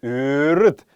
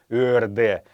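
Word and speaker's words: өөрд: Я напоминаю еще раз вам, что айрат произносится как ырыт, а не ырде.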